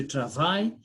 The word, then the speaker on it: travaille: So we say, je travaille, tu travailles the same, il travaille, elle travaille, but we say nous travaillons. I-double-L has got letter Y and Y is letter E.